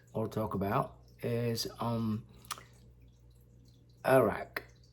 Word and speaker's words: arak: talk about is um Iraq a-r-a-k you know pronounced differently in England and probably different in America but as a native Indonesian I would pronounce the drink Iraq so the drink is